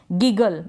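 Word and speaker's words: giggle: इसको पढ़ेंगे गिगल। इसको जिगल नहीं पढ़ेंगे।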